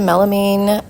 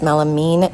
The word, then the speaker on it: melamine: These were some melamine plant holders. Someone told me it was melamine, not melamine, I guess.